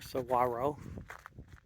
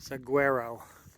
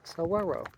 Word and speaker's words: saguaro: a saguaro cactus, or saguaro. I grew up always pronouncing it saguaro, but in Spanish-speaking areas, the GU is a W sound, so it's saguaro.